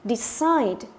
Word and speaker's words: decide: Đấy, và chúng ta có decide. Decide trọng âm cũng là âm gì? Thứ hai.